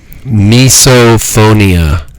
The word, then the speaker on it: misophonia: It's called misphonia. Let me pronounce it for the audience. Misophonia.